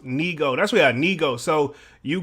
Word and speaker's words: Nigo: J Brook says um ni Neo is pronounced Neo that's what Neo so